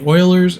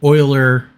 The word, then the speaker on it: Euler: These are called Euler rotations. E-U-L-E-R, it's spelled differently.